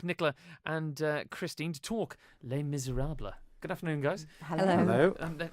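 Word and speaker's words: Les Misérables: and Kristene to talk Les Miserables. Good afternoon, guys. Hello. How was my pronunciation there, Kristene? Pretty good. Oh, Les Miserables. Les Miserables. Mm-hmm. There's no le on the end of it.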